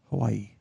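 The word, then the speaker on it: Hawaiʻi: How do you actually spell Hawaii? HAWAI''. Oh my God! Hells yeah! And the proper pronunciation, Hawaii.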